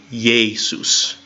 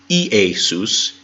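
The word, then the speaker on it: Ἰησοῦς: I need to do it would be yay soos not EA soos it'd be yes yes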